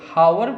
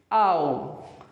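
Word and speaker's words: hour: जो स्टूडेंट इसे हावर पढ़ते हैं गलत है, जो इसे आवर पढ़ते हैं गलत है। इट इज आओ। और एक और इसका प्रोनाउंसिएशन है वो भी राइट माना जाता है, आ, ओनली आ, आ, आओ, डाउट, बी हमेशा टी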